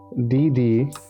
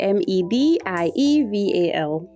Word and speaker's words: medieval: So, MIDDEIVLE. No, it's actually MEDIEVAL. Medieval times. Yeah. What? Medieval. That's how it's that's how it's pronounced.